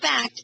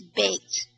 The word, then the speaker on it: baked: a bait f well it's not backed it's baked baked yes that's it that's it okay anytime and here's anytime you see an e at the end like in bake let me do this here anytime you see an e there it usually means that the The Vow before it is a b b b very good wonderful it makes a difference so and that's why I pointed it out fact okie dokie baked